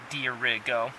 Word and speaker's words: Dirigo: top it actually said it shows that how to pronounce it right on top which is fun so Dirigo said beer Rigo it said maine state